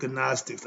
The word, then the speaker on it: Gnostics: Gnostics, the G is silent in front of the N. They call it Gnostics.